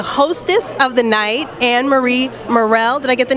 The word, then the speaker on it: Murrell: And I'm actually here with the hostess of the night, Anne-Marie Murrell.